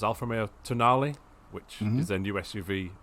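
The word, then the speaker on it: Tonale: but uh you know if you just read it in if you don't know how it's pronounced and you're from the north like me it looks like to tone my misspelling of toenail it's the most unfortunate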